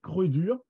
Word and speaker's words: Croédur: Lui, il écrit Croix-Dur, mais ça ne veut rien dire au niveau de prononciation, c'est Croix-Dur. À cette époque-là, les OI, ça se prononce E, OE. C'est comme ça depuis Molière. Hein. Molière, c'était pareil.